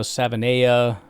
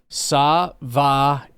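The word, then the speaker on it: Savaiinaea: The uh interior offensive lineman out of Arizona, Jonah Savana apparently is pronounced I'm going to try this because it doesn't make sense in my brain, but we'll do it slowly. Savia Savia Jonah Savia pass rusher uh out of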